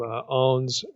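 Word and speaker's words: Aune: time I quoted from en's Commentary on Revelation his word biblical commentary and by the way his name is spelled a NE and he wrote the nicians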